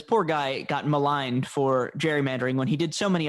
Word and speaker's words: gerrymandering: Today, the only reason we remember him is for gerrymandering, which eventually they softened the hard G.